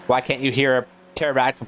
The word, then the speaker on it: pterodactyl: can't you hear a pterodactyl p because the p is silent that's so good such